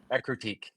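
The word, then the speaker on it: Ecruteak: I never know how to pronounce it. Ekrutiak, the one with the towers. Ekrutique. Ekrutik.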